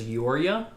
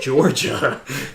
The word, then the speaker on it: Jorja: Yeah, just because her name is spelled Jorja, and I thought it was Yoria, but they said Georgia.